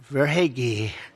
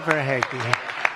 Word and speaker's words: Verhaeghe: But the title couldn't have been won if you didn't have a man named Carter Verhaeghe. Carter Verhaeghe. Where's Carter? I can only pronounce that name because I heard it so many times during the service.